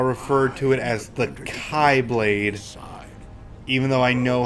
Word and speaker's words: Keyblade: what you easier to say, I know it's pronounced Keyblade, want. Haven't but you whenever I'm going to refer to it, I'll refer to it as the Kai Blade, side?